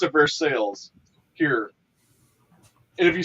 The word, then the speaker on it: Versailles: say for sale but you got but they pronounce it for sales here and if you say it the other